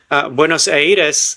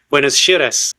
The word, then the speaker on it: Buenos Aires: The Americans will say Buenos Aires, and the Brits will say something else completely different. And in Buenos Aires itself, they will say Buenos Aires. That's how they say it there.